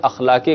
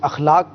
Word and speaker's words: اخلاق: جی، بسم اللہ الرحمن الرحیم۔ اخلاق کا جو لفظ ہے، الف کے اوپر زبر آئے گا، اخلاق نہیں اخلاق، جی یہ تلفظ میں غلطی کی جاتی ہے۔ اخلاق، اخلاق خلق کی